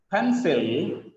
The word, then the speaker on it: pencil: The stress is on first syllable.